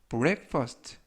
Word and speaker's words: breakfast: 이번 표현은 breakfast, breakfast, breakfast 라고 발음하시면 되겠고요. 이때 유의하실 점은 블랙이 아니라 break, break, 블랙이 아니라 break. 그래서 breakfast 라고 발음하시면 좋겠습니다.